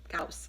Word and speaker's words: Gauss: kobak was taking such a personal interest in him my name is Gauss a Gauss it rhymes with house call back dashed into